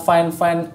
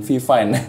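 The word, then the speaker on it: FIFINE: pakai nih, yaitu adalah Finefine M9 ya. Ini brandnya bacanya Finefine ya, bukan VFine.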